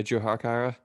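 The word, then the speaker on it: Jujhar Khaira: Yeah, Jujar Kyra.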